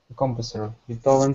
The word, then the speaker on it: composer: Composer for example. Okay. Uh you are correct. Um middle syllable or second syllable stress.